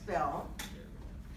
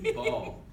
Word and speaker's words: Ball: Our next speaker is Bell. Thank Ball. you. You want to be in the dark? No, it's Ball. Ball, you're right.